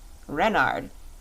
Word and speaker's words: Renard: is king renard iv renard with the accent on the ren what's wren asked button